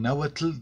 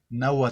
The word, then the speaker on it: náhuatl: una palabra anáhuac y en lugar de decir el náhuatl dice nagua todo con agua tel porque no saben pronunciar la entonces en la manera que yo lo pronunció náhuatl él se les hace